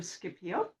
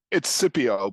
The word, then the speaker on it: Scipio: This is Scipio. Did I pronounce that right? No, No? it's Scipio, but I don't mind.